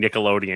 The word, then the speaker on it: Nickelodeon: That Nicodonian Nickelodeon thing I could not get into people all over the place. Okay, we get the point. Yes. So that that's him mispronouncing Nickelodeon and saying Nickelodeon.